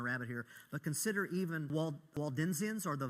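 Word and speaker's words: Waldensians: The the Waldenzians or Valdenzians, it's it's a spelled with a W, but I think technically it's pronounced Valden.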